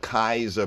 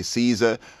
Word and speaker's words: Caesar: put kaiser they put kaiser borgia the kaiser bourgeoisie that's the caesar boziers y'all might say caesar are studying the linguistics the proper pronunciation is kaiser kazar kaizar khazar kaiser